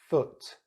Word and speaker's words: foot: Foot, ut.